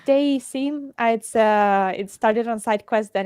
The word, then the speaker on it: Dayseam: Yeah, I wasn't sure how to pronounce it. Yeah, it's Dayseam.